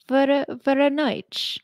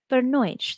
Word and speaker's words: Voronezh: Voronezh. I had to use the pronunciation help for that one, and I felt pretty cool saying it.